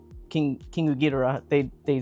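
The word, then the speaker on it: Ghidorah: I think this Josh would like to know why you pronounce Gdora as Gedra. It's Gera.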